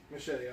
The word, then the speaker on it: Muschietti: Muschietti, okay, that's how you pronounce it.